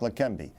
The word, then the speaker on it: Leqembi: and he has spent decades researching drugs like La Canby good morning Dr Burns did I pronounce it correctly yes they can be yes